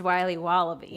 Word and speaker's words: Wiley Wallaby: It's pronounced Wiley Wallaby.